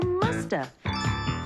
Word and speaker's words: must have: And sometimes we don't pronounce the V. And so you hear musta.